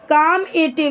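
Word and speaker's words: calmative: काम एटिव, ध्यान रखेंगे इसमें आपका एल वर्ड जो है वो साइलेंट है, मतलब लिखा तो जाएगा बट उसको पढ़ने में उसकी आवाज़ नहीं आएगी।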